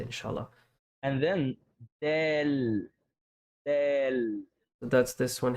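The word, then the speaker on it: دال: So your tongue should be also before your teeth, not and it's not outside. Okay, so it's simply this is kind of like the letter D Yeah. in the English language.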